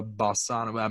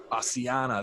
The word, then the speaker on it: bassiana: I'll give us some Bavaria Bassana. Man, I'm not even gonna butcher the word. Some BB You were really bacteria. close. Really I was close. pretty close. Bavaria I got the Bavaria. Bassiana. Bassiana.